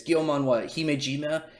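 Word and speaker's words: Gyomei Himejima: But they're fighting against I already forgot how to pronounce his name. It's Gyomon Himejima, and he already has like such a goddamn sick power too.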